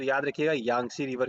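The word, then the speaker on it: Yangtze: ये रिवर देखो तो यहाँ पे है, यांगजी पढ़ोगे अगर आप वैसे प्रोनाउंसिएट करोगे तो बड़ा यांगजी आ जाता है, बट वैसे नॉर्मली देखो तो ये यांगसी रिवर है, ठीक है।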